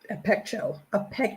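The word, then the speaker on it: ἀπέχω: Now, There are other examples of the word apcho, apecho is the correct pronunciation.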